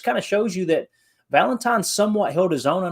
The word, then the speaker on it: Valentine: actually, and they're insiders, they actually pronounced Valentine with a B. They pronounced it Ballantine.